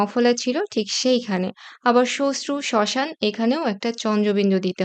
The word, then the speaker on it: শ্মশ্রু: আবার শ্মশান বা শ্মশ্রু, এখানে ম ফলা আছে শব্দের শুরুতে এবং সেখানে ম ফলার উচ্চারণ একেবারেই হচ্ছে না এবং কোনো দ্বিত্ব উচ্চারণও হচ্ছে না।